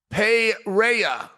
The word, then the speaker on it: Pereira: taught me this think like George St Pierre and AD an a there some fonetic right there say this okay Alex pera pera pera Alex Pera